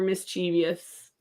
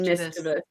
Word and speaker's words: mischievous: free because I more often hear mischievous here in the South and mischievous north of the Mason-Dixon line.